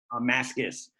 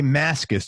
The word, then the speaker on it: Mascis: Is that how you pronounce his last name? Mascis. Jay Mascis, just like it's written.